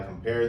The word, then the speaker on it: compare: Shall I compare thee to a summer's day? Shall I compare thee to a summer's day? In this line, the word compare, pair is the stressed syllable.